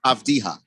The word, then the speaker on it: Avdija: Avdija.